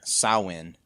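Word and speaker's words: Samhain: say because the the the standard one is um sawwin so would you sign one yeah i think someone saw when it seems like the the standard irish pronunciation all right so so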